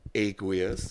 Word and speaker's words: Aqueous: for anybody not familiar with the band it's pronounced aqueous that's right people know so tell me a